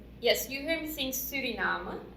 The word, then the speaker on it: Suriname: you heard me sing surinam surinam srinam is the dutch pronunciation so in order for